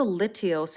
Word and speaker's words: Lithios: It is, it's called a lithios, and I say it like really enunciated because if I don't, it sounds like a D.